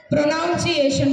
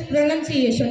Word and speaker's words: pronunciation: for pronunciation we used to spell this word as pronunciation but the correct way of pronunciation is pronunciation not pronunciation now the second word we have armor we